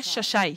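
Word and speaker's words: Xai-Xai: It's pronounced in Portuguese. En portugais, Xai. on prononce cela Chachai.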